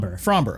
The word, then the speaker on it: Framber: Yes, it it is according to baseball references pronunciation. From frmber.